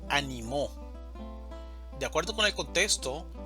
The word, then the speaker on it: animó: Una cosa es ánimo, animo y animó.